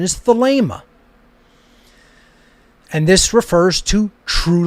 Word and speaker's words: Thelema: alpha gamma alpha pi eta how do you pronounce agape you don't say agape you wouldn't say thalima it's the lemur the ada is a long